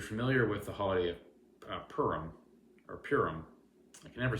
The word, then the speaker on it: Purim: So Haman, who, if you know anything about Jewish traditions or holidays, if you're familiar with the holiday of Purim or Purim, I can never say it right.